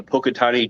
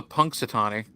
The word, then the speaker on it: Punxsutawney: to bit out loud is the pocatani devil cow first of all it's the Punxsutawney that first one sounded